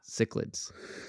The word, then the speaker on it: cichlid: so what did you say again when I was trying to, okay, so I was trying to pronounce the like Latin scientific version, right? Cichlids, is Yeah.